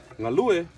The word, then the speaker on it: galue: Samoan words is to emphasize the second to the last syllable. So when you take the word galue, the second to the last syllable is the u, right? Galue. So that's galue.